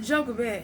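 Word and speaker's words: Jochebed: Then we got Joker. Just in case I mispronounced that, that spell J O C H E B E D.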